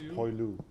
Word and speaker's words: poilu: How do you pronounce that in the last one? The French Poilu?